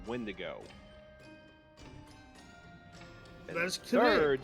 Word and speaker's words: Wendigo: Secondly, it's pronounced Wendigo.